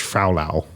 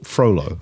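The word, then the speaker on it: Frollo: And you've just said Judge Frolow. It's a tough tough one. Froo Judge F R O L O. So Froolo.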